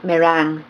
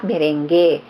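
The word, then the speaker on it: meringue: merengue sa Pilipinas but it should be um pronounced as merang not merengue kasi merengue isa Latin dance these are eight egg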